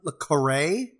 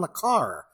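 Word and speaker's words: le Carré: if it's just one it's John Lecrae I believe that's right I've been pronouncing his name wrong my entire life and the Spy came in from the cold it's one of my favorite books I always thought it was John le Carr ugh let me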